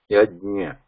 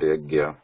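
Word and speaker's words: यज्ञ: So many times you hear the pronunciation like yagya. Some people they pronounce it like gya, yagya. It's not yagya, yajnya, because nya has to be there.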